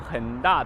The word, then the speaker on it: 恒大: ここにね恒大、中国語でこれ発音很大って言います。